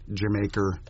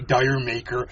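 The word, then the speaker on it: D'yer Mak'er: are still people who just can't get uh jamaer right I love to do my Robert Plant well all the F all you Americans say dire maker mhm I remember we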